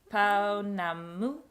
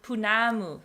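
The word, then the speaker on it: pounamu: Or it's called a paunamu. no, punamu. Punamu, and it's a gemstone.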